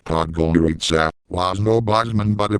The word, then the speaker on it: Podgorica: Pajorica, pronounced Podgorica, was no Bosman but a place burbling with progress all the same.